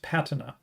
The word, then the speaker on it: patina: lot but doesn't realize it's stressed on the first syllable. So, I think it's actually pronounced patina, which I didn't know.